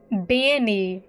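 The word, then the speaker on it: bean nighe: Banny is what that's called, apparently. Okay, that's how you pronounce that.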